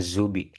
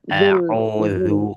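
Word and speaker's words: أعوذ: Jangan zubi. Ujung lidah keluar dikit, Bu. Auzu.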